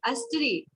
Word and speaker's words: स्त्री: घर की मानन स्त्री, अस्त्री। स्त्री लिखा है लेकिन हम प्रोनाउंस करेंगे अस्त्री, अस्त्री।